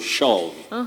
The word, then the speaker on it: shove: the doves doves and we also say not to shove shove to shout shove just like love love not love yes shove don't shove okay liz i don't